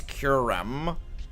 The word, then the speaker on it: Kyurem: the the the M actually it's curum and when I realized